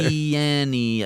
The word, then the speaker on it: Christiania: Christiania. Yeah, it's five syllables. Yeah, for a short little word.